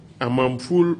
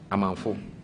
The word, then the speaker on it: Amanfo: Kweku, J-K, Amamful or Awamful or Awamiful? Amanfo.